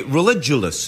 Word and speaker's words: Religulous: I'm here with Bill Maher, who's your documentary Religulous. Is that how it's pronounced? Correct. Religulous. You pronounced it correctly.